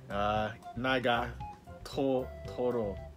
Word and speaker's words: Nagatoro: This is the volume 6 of the Bully Nagataro. I cannot pronounce the name properly. Nagatoro.